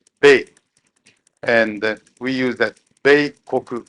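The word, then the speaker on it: 米: We use the character for rice, which is pronounced Bei, and we use that Beikoku or rice country.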